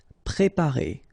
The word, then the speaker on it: préparer: Préparer, all right, accent aigu on the top of E, préparer.